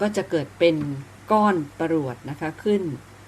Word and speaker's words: ปรวด: คือ ปรวด นะ คะ ปรวด ใน ตัว ข้าง ป ปลา ร เรือ ว แหวน ด เด็ก นะ คะ อ่าน ว่า ปรวด ซึ่ง อยู่ ใน ตัว